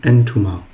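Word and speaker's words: أنتما: On dit entuma. Et entuma est composé de 5 lettres. Elif, noun, ta, mim et alif.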